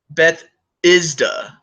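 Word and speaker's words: Bethesda: tell me you're not going to x-rated man Beth isda Beth oh okay so that's how you pronounce it okay thank you Tru I appreciate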